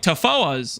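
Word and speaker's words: Tawhoa: The WH is pronounced like an F, Lance, so it sounds like Tafoas.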